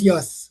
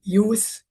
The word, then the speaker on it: youth: Take care of the pronunciation of the word use, not Y. Okay. Youth and not Y. The youth here.